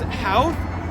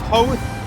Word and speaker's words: Howth: So, the British pronunciation is Howth, but the way they pronounce it here in Ireland is Howth.